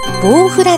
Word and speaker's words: ボウフラ: 読むでしょうかんん deni 正解はボウフラでした可能幼虫ですね水中に